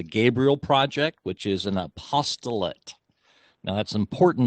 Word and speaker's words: apostolate: apostolate now that's important that we don't mispronounce that word because apostate means completely the opposite from apostolate apostolate means they're going forth with the good news and apostate means they moved away from it so we you